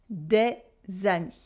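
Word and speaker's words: des amies: Des than me several female friends and the S and the E are silent de zani and in everyday spoken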